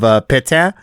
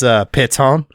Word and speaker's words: Pétain: France episode on YouTube, disgruntled with my mispronunciation of pétain as péton, so he wasn't happy with with that.